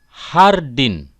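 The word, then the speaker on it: jardín: Hai Ida Hai sedangkan huruf j diucapkan h Hai contoh hai hardin Paula Hai Happy Hai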